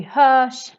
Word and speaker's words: hörs: Andesh is this Swedish name, but RS always makes this sh sound in Swedish. So that's why again we say vi hörs, Andesh.